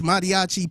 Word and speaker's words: mariachi: So I say they call the uh madiachi pumas.